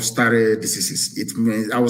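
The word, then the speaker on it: stare decisis: It is called star diseases. It mean I will spell it for you.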